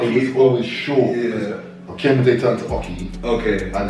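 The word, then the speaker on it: Okiemute: So basically, my name's Okemite. Okay, yeah, cool. That's my name, like my government name, Okemite. Yeah. And it's spelled as in O-K-I-E, Oki, Mute, yeah. M-U-T-E.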